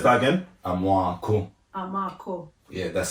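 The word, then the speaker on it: Amoako: My surname is Amwako, A-M-O-A-K-O. Oh, what? So it's that again? Amwako.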